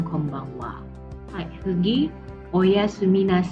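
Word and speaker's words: こんばんは: hiragana cough-en Baben wakwakwak disini juga sama seperti Konnichiwa Wayan dituliskan bukan wak ada deretan wawo and tetapi pada deretan khaiya tulisannya memang home banghak tapi dibacanya Kombang Wa yg begitu Oh iya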